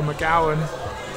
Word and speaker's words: McGowan: The pronunciation for McGowan rhymes with cow, and that we should tell GB to get taller.